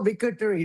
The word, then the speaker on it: victory: You know, this O is almost silent. See, the O is silent. You don't have to worry about Yeah, the O is like silent.